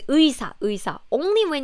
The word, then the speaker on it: 의사: But if it's at the beginning of the word, such as like 의사, 의사 means a doctor, it's never 에사, 에사. It's always 의사, 의사.